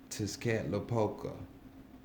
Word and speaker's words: Tezcatlipoca: I know it just sounds like I just blurted something out, but it's kind of like, ain't no kind of like, that's how you pronounce his name.